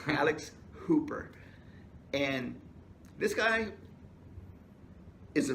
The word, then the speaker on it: Alex Hooper: So many times we've already accidentally say Alice Cooper, yeah. But it's Alex Hooper.